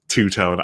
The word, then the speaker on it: Tootone: Two-tone. I get it. It's spelled Tootone, but two-tone for that silly Kraken.